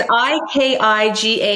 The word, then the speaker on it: Ikigai: I can't even pronounce it. So, but it's Ikigai.